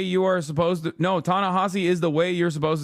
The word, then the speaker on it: Ta-Nehisi: okay that makes sense please don't call him tanassi it's tany no you're wrong the way you are the way you are supposed to no tanassi is the way you're supposed to say his